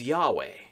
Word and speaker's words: Yahweh: it really is a nonsense word the hebrew pronunciation is yahweh but the word is not read that way